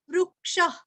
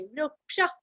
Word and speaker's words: वृक्षः: रुरस्व, वारुणों का रुरस्व, वृक्ष, अभी यहाँ पे भी पेट अंदर लेके सांस बाहर छोड़ना है, वृक्ष, पुष्कराक्षो, पुरस्व, पुष्कराक्षो, क्ष